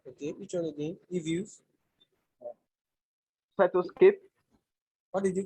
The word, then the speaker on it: Cytoscape: Cytoscape, What did you call it? Cytoscape, Can you spell that? CYTO, CYTO. CY, Okay, CYTO. Okay. SCAPE. STAPE. Cytotape. No, it's C, not T.